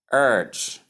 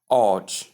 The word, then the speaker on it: urge: Pronunciation is urge as shown here. The long sound and G sound. You combine both, you get urge. Urge. Urge. Most Nigerians do call it OG. O using the long O in the place of the long E sound. This pronunciation is out of place.